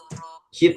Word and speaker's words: heat: Heat ya. Heat memanaskan. Yes. Oke. Tadi bacanya head ya, sedengar saya. Mungkin bukan head tapi heat.